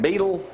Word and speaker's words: Beadle: How you pronounce that? How you say that? Beetle? Michelle Beadle. How you say it? Michelle Beadle. Michelle, but I know how to say Michelle, but that's the way you pronounce her last name.